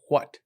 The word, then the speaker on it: what: you pronounce this word you pronounce the h first the w second uh interesting why yeah